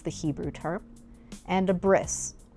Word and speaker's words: bris: Hebrew term, and a bris, which is the Ashkenazi Yiddish pronunciation of the word brit in brit milah.